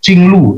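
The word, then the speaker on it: jingluo: ngomong kesra tlah Meridian itu disebut Chingluh tulisannya jingwu bacanya chinglu ding itu saluran blue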